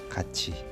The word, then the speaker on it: 같이: 자, 굳이 같이. 자, 어떻게 발음하죠? 굳이 같이 이렇게 발음합니다. 디귿이 뭐로 바뀌었다고 볼 수 있습니까? 지읒으로 바뀌었고요. 티읒이 뭐로 바뀌었습니까? 치읒으로 바뀝니다.